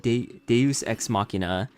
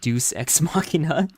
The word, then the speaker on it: deus ex machina: pooping the Duke says deus ex machina oh yeah I didn't know how that word was pronounced because I've only ever seen it written down so I pronounced it Deuce ex machina oh she he's saying